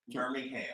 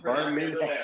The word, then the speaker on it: Birmingham: Birmingham. Oh, that boy pronunciated everything. Birmingham. Well, we don't never put the G in there.